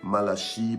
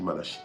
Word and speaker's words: Malachie: Malachie, Malaki, ça dépend comment tu prononces. Bon, enfin, moi je dis Malachie, ok?